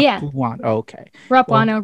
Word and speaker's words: Rapuano: name so we know am i pronouncing the you in there like right yeah oh okay rapuno rapuna all right rolls off